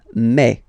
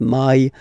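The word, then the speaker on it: mai: And then you pronounce it me. Me. Okay. So don't pronounce e. Don't try to pronounce it. No, it's me. Me. So it's not my, it's me.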